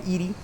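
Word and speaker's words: ED-E: The game pronounces it Eddie and EDE, but some people call him Edie, some people call him Eddie, some people call him EDE.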